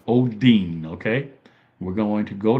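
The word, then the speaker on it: ὠδίν: Odin. Odin. So, it's pronounced Odin.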